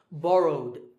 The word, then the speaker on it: borrowed: In number two, the last sound is W, which is voiced. So the ed ending becomes duh. Okay, so borrowed.